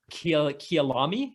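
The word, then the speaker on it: Kyalami: the condition of the track and can you pronounce it for me so i don't butcher it kia lami you know my dad actually grew up in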